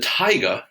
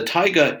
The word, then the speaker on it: taiga: something to eat now the tiger that's pronounced kind of like not a lion but a tiger uh the taiga is uh which is